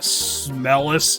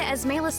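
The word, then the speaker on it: Esmelas: Here we are, at the Smellest Tower. Yes, and I'm mispronouncing it. Just put one L in there. It looks like we've come all the way to Esmalus Tower.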